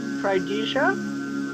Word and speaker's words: Trydiga: The two that I met are Tridija, that's spelled Trydiga, and Nagla.